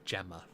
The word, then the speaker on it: Gemma: It's not Gemma, it's Gemma. Is it? Yeah, that's how we pronounce it here.